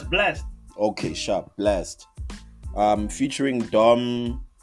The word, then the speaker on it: Blxst: So the name is pronounced. It's spelled as BLXST. Nah. Oh, Blast. That's Blast.